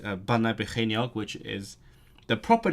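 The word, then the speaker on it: Bannau Brycheiniog: Surprisingly, she got the Banau part correct, which is actually, to me, Banau is the less intuitive part because it's spelled with an AU, so you'd think it's in Banau, but no, it's Banau.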